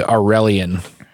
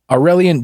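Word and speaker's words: Aurelien: twenty-something British kid named aurelion and I spell that by the way it's a you are e li e n cool like Maura and alien but a sort of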